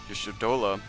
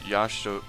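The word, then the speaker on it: Y'shtola: The first name, Yashtola, would be pronounced Yashtola, not Yashtola. And as you guys can see, I'm also having trouble doing this.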